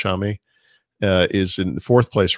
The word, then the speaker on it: Xiaomi: I don't want to mispronounce it, but I believe it's Xiaomi.